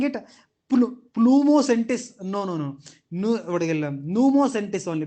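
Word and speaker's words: pneumosintes: But when you are pronouncing it, Pneumocentis. No. Pneumocentis only. Because P is silent over there.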